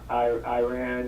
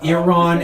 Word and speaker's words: Iran: uh the story that Iran is uh Iran is pronounced Iran sorry I just I can't listen to you say Iran I ran I Ran So Far